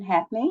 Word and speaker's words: Hackney: media or on our website so ad Hackney I have you first are you here this evening I am did I pronounce it right yes you did okay thank